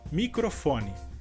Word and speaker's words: microfone: Além da pequena diferença ao escrever essas palavras, temos também a diferença na sílaba forte, que no caso, na palavra em espanhol, seria a sílaba cro, e em português seria a sílaba fo.